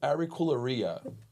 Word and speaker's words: Auricularia: Auricularia? That's right. Auricularia.